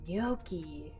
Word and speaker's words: gnocchi: fluent spanish at home g is for gnocchi the nomials waiter there's